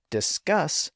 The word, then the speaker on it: discus: s's at the end and that's because discus puts the stress on the first syllable so a single s is fine at theend end but discuss puts the stress on the final syllable and since it's pronounced